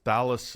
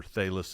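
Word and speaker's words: Thales: was a uh and I I pronounce his name all wrong all the time but it's Thalus of Maliasis or Thalis of Malitis depending on if you want a long A or short A and he was one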